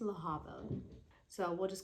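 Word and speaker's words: Lehabah: then there is laaba which the whole time I was pronouncing her name leaba but I guess it's it's laaba so we'll just call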